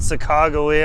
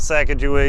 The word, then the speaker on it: Sacagawea: We've got the Sacagawea, or some pronounce it Sacagawea. I'll call it Sacagawea. You can deal with it if you don't like that.